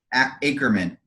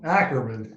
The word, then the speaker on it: Ackerman: guest today dr dwayne akerman did i say it right no ackerman i'm gonna stop down